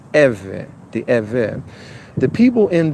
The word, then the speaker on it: Êvê: the original ancient text of the name pronounced Evan the event the people